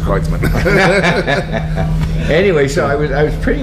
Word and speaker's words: Kreutzmann: I said, "Bill Kreutzmann?" He said, "Well, it's actually pronounced Kreutzmann."